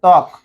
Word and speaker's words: ত্বক: Number 1, শব্দের প্রথমে ব ফলা হলে এর উচ্চারণ হয় না। এখানে আমরা ত্বক লিখেছিলাম, শব্দের প্রথমে ব ফলা আছে, এই যে ত্বক, ত ব ফলা হবে